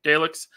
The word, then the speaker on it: Daleks: Did I Neither pronounce that right? Okay, Daleks.